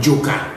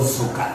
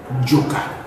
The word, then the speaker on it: Joka: the consonant say like Joka. Yes. It's not called Zoka. It's Jo as in fire. Joka, not Zoka.